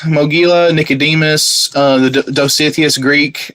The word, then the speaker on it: Mogila: Uh I'm pretty sure I butchered that. And then u Mogulia, the the Orthodox confession. Mogila.